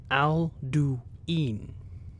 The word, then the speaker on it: Alduin: first actually introduced himself he pronounced his name al du en in three words but why would he